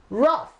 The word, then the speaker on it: rough: pronounced properly hmm well this word is pronounced ruff ruff now this case you